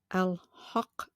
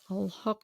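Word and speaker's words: Al-Haqq: Al-Haq, H-A-Q-Q is the way that is spelled in the transliteration.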